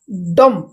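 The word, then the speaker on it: dumb: date एटा टिके ध्यान देबे ओके एठी बी साइलेंट डेट ओके डम डम अर्थ गुंगा कथा कहि पार नथिबा लोक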